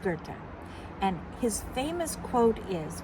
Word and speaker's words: Goethe: Some people think it's go, but it's it's pronounced Gerta.